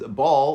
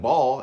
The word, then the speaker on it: ball: It's when the L sound in the coda of a word final syllable, basically the L sound after the last vowel of a word, is pronounced like a W or a vowel sound. We can hear it in Reisman's speech and how he says ball, like ball, in this clip.